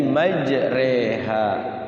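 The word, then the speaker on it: مجراها: di dalam Alquran namanya memiringkan bacaan fathah kepada kasrah jadi dia fathah tidak kasrah juga tidak karena Allah itu ketika kasrah itu kan ketika fathah roh nah ini tengah-tengah Jadi bacanya Bismillahi majreha pakai sate ya jadi guru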